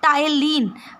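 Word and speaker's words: ptyalin: तो पहला एंजाइम है टाइलिन, यहाँ पे पी साइलेंट है तो टाइलिन।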